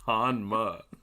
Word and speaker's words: Hanma: Like it's not like it's like a Japanese pronunciation. It's Hanma.